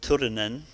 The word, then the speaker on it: Turunen: for the IMF, Jarkko Turunen. And I think I was trying to roll the R's there. I asked Jarkko how you pronounce his name, but you need to roll the R's.